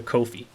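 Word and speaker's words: Ko-fi: of everyone that donated to my work via kofi yes that's how you say it i looked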